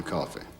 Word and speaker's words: Coffey: John kept saying, "Your name is John Coffey." "Yes, sir, boss. Like to drink, only not spelled the same."